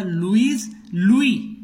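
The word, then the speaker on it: Louis: तो फ्रांस का king French revolution के समय था लुई. देखो एस लगा है लेकिन हम इसको लुईस नहीं बोलते हैं, लुई पढ़ा जाता है, साइलेंट है.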